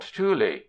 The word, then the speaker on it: tule: certain rivers, is quite commonly called tule, two syllables.